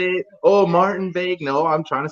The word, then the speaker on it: Martin-Vegue: His name is Martin-Vegue, French. I said it right, I think. Huh? Yeah. Yeah, Yeah. sweet. But Yep. he tried to say it, oh, Martin-Vegue.